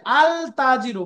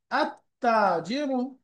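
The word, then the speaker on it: التاجر: যেমন উদাহরণ দেখেন আততাজ আলতাজির পড়া যাবে না লামটা উচ্চারণ হবে না সাইলেন্ট আতাজির একইভাবে রাজুন আরজুল আর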